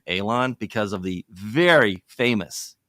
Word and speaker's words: Alon: name so the the the appropriate terminology of how to pronounce it is Alon it's an elated long a but hey I go